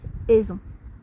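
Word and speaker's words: Eison: Oui, mais comment ça se prononce ? Pro V E R I C C Provérique 969 Aison.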